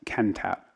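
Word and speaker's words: Kentopp: you please state your name again I keep mispronouncing it it's CHR is Ken tap ke n t o P P my apologies mr.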